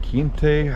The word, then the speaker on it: Quinte: So we're heading up the Bay of Quinte, I believe is how it's pronounced.